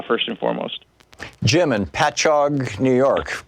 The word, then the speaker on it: Patchogue: Jim in Patchogue, New York. Correct me if I'm wrong in the pronunciation there, Jim.